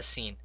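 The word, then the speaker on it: سين: Now the next letter is a sin, and I call this sin also a smiley letter because when you pronounce it, you have to smile with your teeth. So when you say this letter, smile with your teeth while you are saying it.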